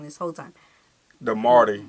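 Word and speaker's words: Māori: The Marty. He called it the Marty. Marty because it got that line over the A. Yeah. But we call it Myrie.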